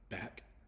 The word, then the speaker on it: back: e so face and the next example is uh back so it has the uh sound for the A and then the hard C because there's no um e at the end so that in this example it also has the ck sound so C and K are close together the CK uh it just makes the cus sound so it's not anything special CK you can view it